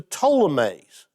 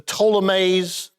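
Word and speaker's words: Ptolemies: of the south is a reference to the ptolemaise okay and that's spelled with a p p t uh o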